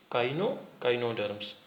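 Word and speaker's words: Echinoderms: Arthropods, worms, मोल्यूसस, sponge and cnidarians Cnidarians with a silent C and yes काइनोडर्म्स। ये क्या है? काइनोडर्म्स। क्या पढ़ेंगे? ई यहाँ पर साइलेंट है। इकाइनो नहीं पढ़ेंगे, इसे पढ़ेंगे हम काइनोडर्म्स। ठीक है, ये क्या है?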